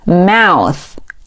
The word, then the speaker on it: mouth: 再来往下看，下一个是嘴巴 mouth, 我们注意最后一个